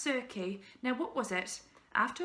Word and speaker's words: Circe: Circe, he'd heard that name before, pronounced Circe.